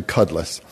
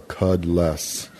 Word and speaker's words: Kudlas: - which is awesome it's actually Cutlass just remember a cow that can't spit so cud less and that's how you pronounce it but over the